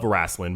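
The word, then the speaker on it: Raistlin: She is even quoted by saying that she is a particularly huge fan of Raslin Majere. Did I say that right? I don't know. Raslin? Raslin, you said correct.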